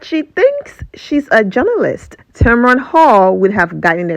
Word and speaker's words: Tamron: challenge Tamara Hall and I'm saying Tamron not Tamara or Tamara okay 24 hours after